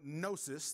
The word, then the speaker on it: gnosis: came from the greek word knowledge or gnosis the g is silent the gnostics believed that